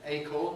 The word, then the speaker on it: acorn: that are not compounds we don't call it an acon we call it an acorn that's the fruit of